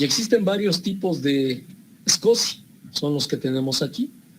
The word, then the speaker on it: SCSI: Se escribe SCSI, pero se pronuncia SCSI.